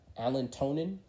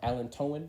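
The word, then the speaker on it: allantoin: three main players uh you have alan tonin or alan toen sorry and then tannins and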